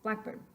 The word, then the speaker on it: blackbird: bird is simply because in the first word in English we emphasize the first syllable black bird and in the second example there black bird we accent both of those syllables exactly the same in Spanish however